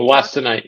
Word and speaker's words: wollastonite: And then let's see, we have a question around how do you pronounce that? Wollastonite? Peter, can you Wollastonite, yep.